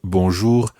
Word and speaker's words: bonjour: correct sound for bonjour now there's also this strange r at the end for English native speakers the r at the end of bonjour is quite tricky to pronounce and we'll be spending more time on that in a later lesson try to get something similar to it for the time being bour bour so bonjour is used